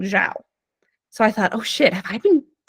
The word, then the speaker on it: Xiao: So I have a coworker and his name is spelled Xiao. And I had been pronouncing it Xiao because that's what I remembered him telling me when we first met, like Xiao. Okay, great. But I kept hearing people in meetings saying Zhao.